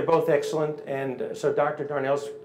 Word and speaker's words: Darnell: Douglas Darnell it's pronounced Darnell but it's spelled dar and a ll and I say that